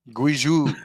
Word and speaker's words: Guizhou: It's pronounced 2051. It's Guizhou. Guizhou, thank you.